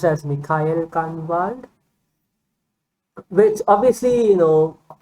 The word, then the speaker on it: Michael Kahnwald: it said Mikhail, well, I read it as Michael Kahnwald, but obviously it is pronounced as Mikhail Kahnwald, which obviously, it's basically the same name, apart from a couple of letters here and there.